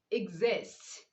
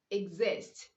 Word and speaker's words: exist: is with a vowel the x is pronounced as z for example we have